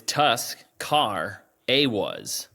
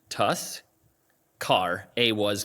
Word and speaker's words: Tuscarawas: It's Tusk, Car, A-was. That's literally how it's spelled. Tusk, Car, A-was County. Tuscarawas County.